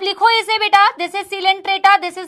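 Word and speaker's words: Coelenterata: Porifera स्पॉन्जस, कॉलेंट्रेटा नहीं है। This is नॉट कॉलेंट्रेटा, this is नॉट स्नीडेरिया, this is सिलेंट्रेटा, this is नीडेरिया। C silent है।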